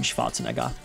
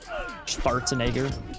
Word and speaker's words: Schwarzenegger: Isn't that how you say it, like in German? Schwarzenegger. Schwarzenegger. Schwarzenegger. Definitely not that. That's like an ultra-American version or way of saying it. Schwarzenegger.